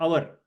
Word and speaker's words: hour: Okay, the same hotel, the H is pronounced differently when you spell hour. Its H is almost silent.